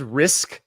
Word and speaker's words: Rizk: His last name is Risk. It's spelled Rizk, but he was awesome against Arizona.